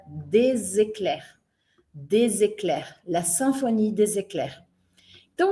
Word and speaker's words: Éclairs: O que tá em vermelho são as letras finais que a gente não pronuncia. Então eu não vou falar a letra E não vou falar a letra S, né? Então não é sinfonie ecls, é sinfonie des ecler.